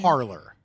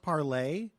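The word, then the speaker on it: Parler: on I've been on parlor parlay don't you know what it's like Emily and Perry no yeah it's pronounced parlay yeah where did you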